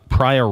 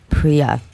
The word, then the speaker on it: Priya: very nice lady uh prior am I saying your name right PRI no you are not how do you say it priia PRI PRI how are